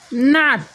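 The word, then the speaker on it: nut: ইউ থাকলে ওখানে আ এর মতো উচ্চারণ করবে। দেখো এন ইউ টি নাট, নাট এর বাংলা অর্থ হলো বাদাম।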